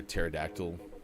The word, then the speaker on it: pterodactyl: you never hear a pterodactyl going to the bathroom why sean i do know why sean the p is silent nice good one i